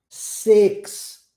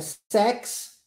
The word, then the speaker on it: six: Muito comumente você vai ouvir o som do I com a pronúncia E. E. Não é I. É E. Por isso que nós contamos. One. Peraí. Two. Three. Four. Five. Six. Não é sex.